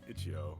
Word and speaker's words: itch.io: Because it's like What itch is and then .co, I guess. Itch-Yo. Yeah. Itch-Yo. Yeah. Yeah, that makes sense.